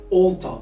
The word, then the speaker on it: alter: Alter. As you can see, the letter A here is spelled as O.